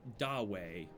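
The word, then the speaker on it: 大卫: David is pronounced along the lines of Dawei, which is not much like David, Dawei.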